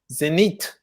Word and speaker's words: Zenith: That's the correct way to pronounce it, by the way, fellas. Zenith.